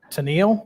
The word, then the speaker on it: Tennille: Originally operated from, forgive me, folks of the South, Tennille, that's how you say it, Georgia, to Sandersville, Georgia, and it was chartered in 1839.